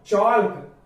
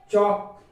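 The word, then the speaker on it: chalk: तो देखिए टॉल्क, वॉल्क, चॉल्क, यॉल्क, folk, लेकिन यह गलत हो जाता है। तो हाँ यहाँ पर एल साइलेंट है क्योंकि के पहले आ रहा है। यदि डी एफ के एम कोई भी वर्ड यदि इन वर्ड के पहले यदि एल आता है तो वह साइलेंट रहेगा। तो यहाँ पर देखिए इसको क्या पढ़ा जाएगा? टॉक, वॉक, चॉक, यॉक और क्यों फॉक।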